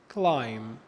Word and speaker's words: climb: حرف الـ B لو جه في نهاية الكلمة وقبليه حرف الـ M، حرف الـ B لا ينطق. ناخد الأمثلة. comb، lamb، tom، climb.